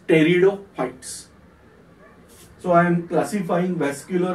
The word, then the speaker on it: pteridophytes: Whereas vascular plants we are classifying as, I am writing here P, but we have to pronounce as pteridophytes.